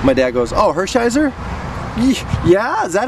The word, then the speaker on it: Hershiser: up rub and I I said some guy Hershey Hersh my dad goes oh Hershiser yeah is that how you how Hershiser oh